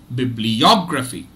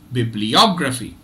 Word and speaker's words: bibliography: out okay so so there are two stress syllables here Bib and OG bib gets a secondary stress and OG gets the primary stress so let's let's listen to their pronunciation again okay bibliography bibliography bibliography now what